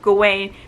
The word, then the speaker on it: Gawain: like the scenes with arthur and gaeuwin because or gawain that's what they helped pronounce it because we do find